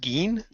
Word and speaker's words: Jin: It's actually pronounced Geen, Yeah, but in but English, it's spelled as Jin, yeah.